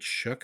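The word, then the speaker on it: Shough: Now, his name, his last name is spelled sh h o u g h, but they somehow get shook out of that.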